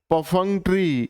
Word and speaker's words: perfunctory: आइए आज का दूसरा वर्ड पढ़ते हैं हम पफरी। इसमें आर साइलेंट रहता है।